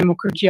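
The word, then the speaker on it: Mukherjee: My name is Mukerji. I'll spell it.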